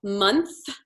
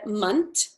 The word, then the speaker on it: month: just keeps coming up it's when it's a t and a h so month month worthwhile and theme park so you said munt like a t sound at the end of the month oh yeah so some people you'll see stick their tongue out when they say the th and some people touch their tongue to the back of